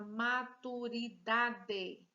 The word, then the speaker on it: maturidade: Próxima palavra, maturidade. 5 sílabas, maturidade. Vamos separar as sílabas. Maturidade. Maturidade. Qual é a sílaba forte? Maturidade. Ó, dá. O dá. Última, penúltima. Se fosse aqui oxítona, aqui é paroxítona.